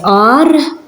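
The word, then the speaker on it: għar: Ein in the beginning of a word is silent. For example, we have ar, that means cave, ar.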